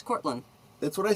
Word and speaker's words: Cortlandt: The original building was constructed in 1671 by New York Mayor Stephanus Van Cortlandt. You don't pronounce a T at the end, it's Cortland.